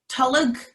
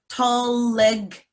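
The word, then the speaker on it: tolg: a tolig tulig and there's actually two syllables there you have what's called an invisible vial in there so on the opposite of a silent letter a letter that you see but you don't hear in toluck there's a letter that you hear but you don't see tall leg tall leg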